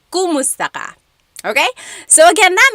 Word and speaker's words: kumusta: If you're following along, you will see that it is spelled K-U-M. Kumusta ka? But in common conversation, natural or native Tagalog speakers will naturally say kamusta ka with an A sound.